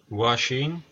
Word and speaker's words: Wxchii: we're back at the washing he told me that his name would be pronounced like washing so I'm gonna call